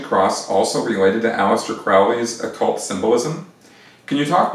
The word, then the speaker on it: Crowley: alist probably and uh or Crowley I think is is actually how you pronounce that um and the